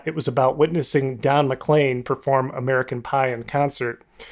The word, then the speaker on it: McLean: was about witnessing Don mlan perform American Pion concert I also want to correct my pronunciation it's Don mlan not Don McLean like I said on that episode so I'm kind of